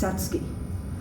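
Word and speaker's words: Satsuki: And that is spelled s a ts u k i. But the u is not pronounced. It's satski.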